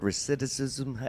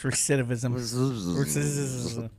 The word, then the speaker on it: recidivism: issue with that word reism how do you say reism recidivism how do you pronounce it reism they say it again now recidivism excuse me re stop Joe it's recidivism he can do those